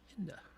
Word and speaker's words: Hinda: Hinda rhymes with Linda. Okay, very good. Hinda.